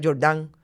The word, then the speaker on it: Jordán: Y en este caso, la jueza, yo le voy a decir Jordán, yo entiendo que se pronuncia Jordán, le ordenó al registro